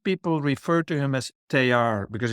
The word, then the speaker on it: Teilhard: And both about your teacher and thank you for also correcting my pronunciation of Oh, Teilhard.